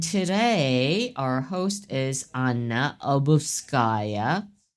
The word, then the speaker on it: Obuhovskaya: And today, our host is Anna Obuhovskaya. How do you say it? One last time. Obuhovskaya. So you just stress Obuhovskaya.